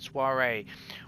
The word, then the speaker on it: soiree: The offer of the order came at a soiree, that's how you say it, soiree, where he was given the kind of a stability that the warring Frankian could not challenge.